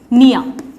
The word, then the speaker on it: pnea: जैसे वर्ड होता है स्टूडेंट्स निया, इसमें पी साइलेंट है, इप्निया.